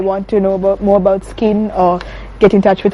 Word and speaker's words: Skzin: Yeah, it's SKZIN. Okay. The Z is silent.